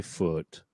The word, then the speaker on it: Foote: Now, for folks who don't have a terribly hard name to pronounce, mine is fairly simple. I mean, the E is silent. I think most people get that. So instead of saying Foote, sorry, right?